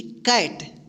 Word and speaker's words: cat: तो यहाँ पे देखिए CAT, देखिए कैट, यहाँ पे सी का उच्चारण क्या हुआ है क हुआ है, ठीक, ध्यान रखिएगा।